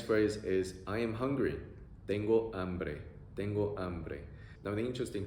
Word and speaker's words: tengo hambre: So, tengo hambre, I'm hungry. E-o-a-e, E-o-a-e, tengo hambre, tengo hambre.